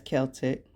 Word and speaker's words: Celtic: The tradition originated with the ancient Celtic, and it is pronounced as Celtic, festival of Samhain.